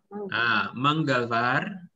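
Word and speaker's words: मंगलवार: Jadi Senin, sombar, Selasa, Bacanya apa nih? Manggalar. Manggalwar, ya, Manggalwar.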